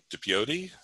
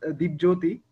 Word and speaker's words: Dipjoti: Let's kick it over to Dipioti. Is that pronunciated correct? Are you telling? Is it me? Yes. Oh, okay. So so it's pronounced Dipjoti. Yeah, it's pronounced Dipjoti.